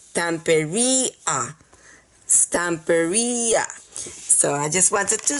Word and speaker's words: Stamperia: asking how to pronounce and it is not pronounced T peria because it is a Latin word and I